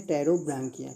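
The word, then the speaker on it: Pterobranchia: First है आपका एंटीरोकोनिस्टा और सेकंड है टेरोब्रांकिया। क्या है, टेरोब्रांकिया, इसमें पी साइलेंट होता है।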